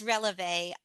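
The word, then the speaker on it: relevé: And for those of you listening at home, because it is French, I'll spell it out. It's releve, Releve.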